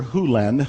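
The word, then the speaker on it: Hew Len: Len's world, and it's actually Dr. Hulen. I've shortened it from E to Dr. Len, but it's actually Dr. Hulen, if you want to say his name correctly.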